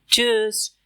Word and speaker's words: Tschüss: इस ग्रीटिंग की प्रोनाउंसिएशन है चूस। चूस ये मुश्किल लगता है, लेकिन प्रैक्टिस से इजी हो जाता है। लिप्स को राउंड करो, यू अमलाउट का साउंड सही से निकालना है, जैसे चूस।